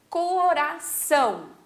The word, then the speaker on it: coração: Coração. Então, ali o são, a gente fala mais forte, mais intenso.